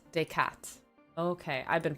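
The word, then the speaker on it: Descartes: Is it decar day? Decat. Decat. Okay. I've been pronouncing it wrong.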